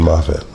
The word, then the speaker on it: Moffat: Yeah, Stephen Moffat. That was his character. Said Moffat. That's how they pronounce it in America.